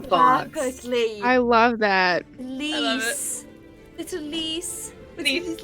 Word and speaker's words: lys: Lease. Lease? Lease? Lease. Lease? Lease. How would you Lease. how would you spell that?